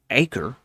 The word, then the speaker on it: Acre: The army then continued forward to Acre, I believe that's how it's pronounced, easily taking that town,